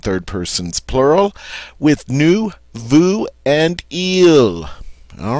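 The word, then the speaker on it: veux: person's plural with new Vu and eel all right let's get started I want is j v v ux and it's pronounced V the x is silent J I want the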